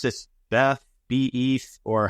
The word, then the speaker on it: BETH: You introduced do you pronounce this BETH, BETH, or how do you pronounce it? I like to pronounce it Beth, because I like to think of it as an old woman.